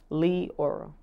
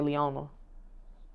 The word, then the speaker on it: Leora: Leora. A lot of people like to say Leona. It's not Leona.